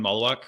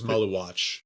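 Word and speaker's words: Maluach: third one was common Malawak who was drafted I definitely butchered his name I think it's Maluatch Malawatch yeah you're right and he was drafted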